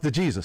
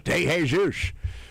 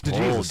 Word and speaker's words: De Jesus: Oh, it's pronounced the Jesus. Sorry. I thought it was de Jesus. Um or it's the Jesus.